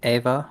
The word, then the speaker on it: Eva: Would be Eva with the European pronunciation.